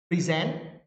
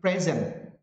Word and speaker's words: present: For example, in the word like present, where the stress is put in the second syllable, native speakers of English know that it